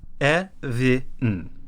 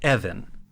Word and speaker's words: Ewin: So the katakana for Uso's last name is Evin. So it seems like it should be Evan. Mm-hmm. In Animerica magazines that were coming out at the time that Victory came out, it was written Ebin, E-B-I-N.